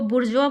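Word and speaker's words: bourgeois: Capitalist होते हैं उनको बुर्जुआ बोलते हैं। इसकी स्पेलिंग देख लीजिएगा। इसका प्रोनाउंसिएशन बिल्कुल डिफरेंट है।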